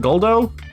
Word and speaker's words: Guldo: Is that how you pronounce it? Guldo?